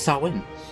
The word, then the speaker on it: Samhain: But it's pronounced Samhain.